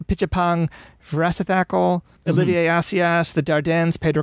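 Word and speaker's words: Apichatpong Weerasethakul: It's Pichapong Vrasathakal, Olivier Assayas, the Dardens, Pedro Costa, and Tsai Ming-Liang was part of that.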